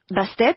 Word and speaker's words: Bastet: Bastet, on prononce Bastet, d'accord?